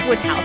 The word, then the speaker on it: Wodehouse: It is Wodehouse, is it?